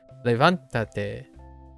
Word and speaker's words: Levántate: It's basically, in my opinion, how I envision it is you put the accent on the same syllable, regardless if it gets so like levantarte is still levantate.